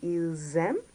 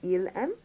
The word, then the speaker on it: ils aiment: But as you can see, there's the S followed by an A, which creates a liaison between the two. So they're pronounced together, more or less in a sense. So it'll be ils aiment rather than il aime.